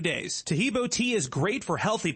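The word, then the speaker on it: Taheebo: Tahibo is spelled T like Tom, A-H-E-E-B like boy. Oh, that's Tahibo, and then continue with the word tea and then the word club.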